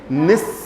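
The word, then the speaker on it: nichts: तो कुछ भी नहीं को हम क्या बोलेंगे निस इस तरह से इसका प्रोनाउंसिएशन रहेगा और बहुत फ्रीक्वेंट ये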